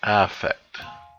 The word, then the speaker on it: affect: of the accent or the stress, over the first syllable. So this is effect, right? So effect, and then this one is affect. So it's a little bit different stress, at least in American pronunciation.